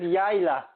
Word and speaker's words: Yayla: Is that the correct pronunciation of your name? Thank you very much, my friend. It is Yayla.